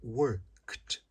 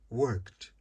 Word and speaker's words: worked: trabalhar, work, passado, worked, eu não falo o E, eu vou da letra K direto para o D. É como se o E não existisse. Então fica worked, worked, lived, played, cried.